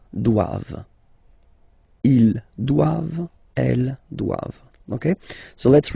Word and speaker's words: doivent: All right, and then the last one, ils doivent. So same thing, classic ending for the plural form, E-N-T here, okay, but then you don't pronounce it. Doivent, doivent. Elles doivent. Ils doivent, elles doivent.